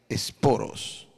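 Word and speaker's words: σπόρος: griego en su original en griego se pronuncia esporos cuya referencia en es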